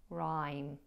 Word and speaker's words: rhyme: Now the word rhyme, that has an unusual spelling, but the pronunciation is rhyme.